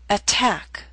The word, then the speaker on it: attack: Attack Attack is a word with 2 syllables. Stress is on the second. Attack. So T, although in the middle of the word, is at the beginning of a stressed syllable. So we have a true T, attack.